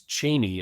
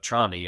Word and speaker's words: Chani: Although I do have to say he pronounced Paul's beautiful Fremen lover as "Chaney" instead of "Chani." And I think everybody says "Chani."